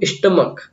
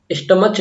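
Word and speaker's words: stomach: ठीक है, ऐसे देखो स्टमक, यहाँ पे CH नहीं होता है, यहाँ पे क हो रहा है इसका उच्चारण। ठीक है, स्टमस, स्टमच नहीं होता, स्टमच नहीं होता, क्या होता है? स्टमक होता है, स्टमक।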